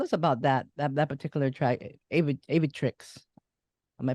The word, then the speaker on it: Aviatrix: So the debut single that came out, tell us about that particular track, Aviatrix. Am I pronouncing that right? Yeah, Aviatrix.